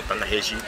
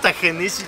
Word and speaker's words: Ta-Nehisi: En unos hay unos cambios interesantes como Ta-Nehisi, Ta-Nehisi, o cómo se pronuncia. Ta-Nehisi Coates. No es Ta-Nehisi, es Ta-Nehisi.